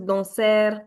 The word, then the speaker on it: danser: Nobody is going to pronounce it as danser, par- parler. There is no r sound in the end. Just danser, parler.